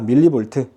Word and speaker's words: mV: MV라고 읽으면 안 된다. 밀리볼트.